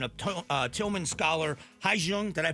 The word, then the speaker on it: Hyejung: Hi Jung. Did I pronounce that right?